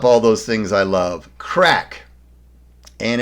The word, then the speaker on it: craic: that sums up all those things i love crack and it's pronounced crack c-r-a-c-k and many a conversation in ireland starts